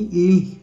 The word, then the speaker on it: gli: इसको आपने ग्ली नहीं पढ़ना, इंग्लिश की तरह नहीं पढ़ना, इसको इटालियन में जो इसकी साउंड बनती है वो बनती है ली, ओके।